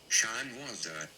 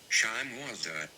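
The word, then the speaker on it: shimenawa: All right, we're looking it up, guys, because I want to pronounce this correctly. Shimwazda. Shimwazda.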